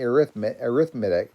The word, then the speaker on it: arithmetic: Looks like I'm spelling arithmetic, but it's arithmetic, is how we say it.